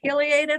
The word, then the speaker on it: pileated: That is one you can say either way. You can say pileated or pileated.